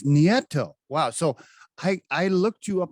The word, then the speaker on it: Nieto: right almost nieto but you're there whoa it's nieto wow so i i looked you up on